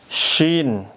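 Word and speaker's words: شين: Kalau lafaz syin itu saya suka susu sapi. Kalau syin syaya, suka suyu syapi. Nah, gitu ya. Untuk membedakan silakan praktikin aja. Ini shin saya suka susu sapi. Ini syin syin tebal.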